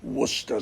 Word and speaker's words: Worcester: subject of pronunciation please Worcester sauce is not called Source its plain Worcester sauce and that's just place